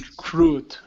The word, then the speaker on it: recruit: nice uh next up instead of reced this is recr with an O sound recruit okay okay recruited recruit